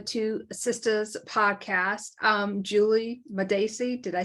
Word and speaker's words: Madacey: Welcome to the Two Sisters podcast um Julie madaci did I say that question well done you